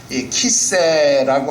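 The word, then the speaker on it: כִּסֵּא: 그런데 이 키세라고 하는 단어를 키세라고 읽지 않고 캐세라고 읽는 번역본들이 있다 하는 겁니다. 여러분, 이 키세라는 것은 이 보좌라는 뜻이 되는데, 캐세라는 단어는요 보름달 이런 뜻이 됩니다. 그래서 우리 개역 개정 성경도 캐세라고 번역을 한 겁니다.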